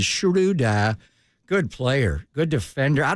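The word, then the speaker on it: Schröder: in Atlanta Hawk and everybody called him Dennis Schroeder and then we realized how to say his name and is Shuda good player good Defender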